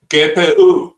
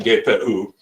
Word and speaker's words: GPU: for the first time, I heard GPU consistently expressed by its European pronunciation. I think it's German, but they all said gape every time. uh took me a back at first and then I started saying geoo uh because they all did.